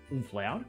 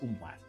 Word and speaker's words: umlaut: I thought it was, because Mum usually says it, and I've always thought of it as umflaut, but it's umlaut.